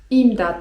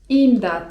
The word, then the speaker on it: imdat: To możemy krzyczeć: imdat! (czyt. imdat) imdat!